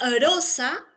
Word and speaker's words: rosa: Aquí tú observas una sola R. Pero cuando tú lo pronuncias, ¿a qué suena? ¿A la simple o a la múltiple? Te les pregunto. Uno pronuncia rosa, rosa o rosa. ¿Cómo pronunciamos? Rosa. Ah, muy bien. Rosa. A la múltiple, correcto, Scarlett.